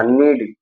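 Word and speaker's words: knead: नीड, नीड means आटा गूंथना।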